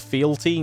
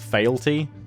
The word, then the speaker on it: fealty: me on my pronunciation its fealty not fail tea so I'll try remember